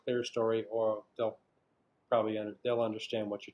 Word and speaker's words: clerestory: Some people pronounce it in a more like modern in the U.S. like modern stuff. People pronounce it clerestory. I learned clerestory as a historical term for this stuff, so that's what I use.